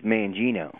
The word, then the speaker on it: Mangino: how you doing today is it mangino or mangino it's mangino mangino you know as soon